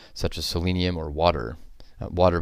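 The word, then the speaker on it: Watir: Water, by the way, is spelled W-A-T-I-R.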